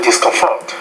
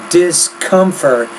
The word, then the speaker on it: discomfort: may also ready to discomfort I would say their discomfort discomfort you're putting the stress more on the final syllable in the word but I would now say discomfort discomfort catching is a bit